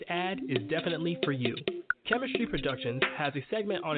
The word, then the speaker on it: K3MISTRY: So Chemistry Productions, that's spelled K3MISTRY.